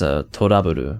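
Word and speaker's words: To Love-Ru: Of course, that's Toraburu, which is a play on words of the Japanese pronunciation of love, which is Rabu, so trouble. It's actually just trouble, but it reads very differently in English.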